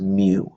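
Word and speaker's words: μ: The population mean is a Greek letter which is pronounced mu. It's sort of like an mu, so pronounce it as mu. And it's like the Greek letter that makes the M sound.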